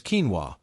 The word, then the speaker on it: quinoa: One such treasure is quinoa, pronounced quinoa, a tiny seed that was considered sacred by the Inca civilization.